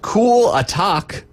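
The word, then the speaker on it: Klatak: pronounce this one correctly it says cool attack or cool cool attack I'm guessing is probably it's k l a t a k cool attack cool attack uh he's a forward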